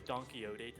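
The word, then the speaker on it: Quixote: kind of like a donkeyote type crazy person. I don't know. Don don donkeyote. It's spelled like quick soap, but it's not pronounced that because Spanish water.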